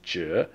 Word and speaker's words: 止: And so just, I'm not going to say the word that I used, but the pronunciation of the Chinese word is zhe.